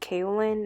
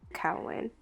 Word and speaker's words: kaolin: So this is actually pronounced kaolin, not kaolin.